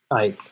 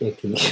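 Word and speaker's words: Icke: This is for the David Ike, not Icky. Sorry. David Ikai, is that how it's pronounced?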